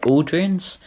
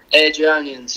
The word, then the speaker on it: Airdrieonians: And then after this move, you actually went to, I'm not sure if I'm going to pronounce this right, Aldrians? Airdrieonians, yeah.